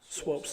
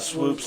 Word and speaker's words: Swopes: Swopes like the Pope. Swopes like the Pope, not swoops like the poop.